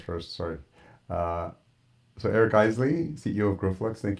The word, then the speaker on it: Eisele: so Eric Isel CEO of growx thank you for joining me on the veral Performing podcast sorry my last name is pronounced Eisley eisy sorry that's helpful I should have asked